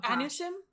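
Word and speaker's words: אנוסים: the Marranos, and the, I don't know how to say this, the Anusim? Oh, Anusim? It's Anusim. So sorry, I didn't look that up, how to say that.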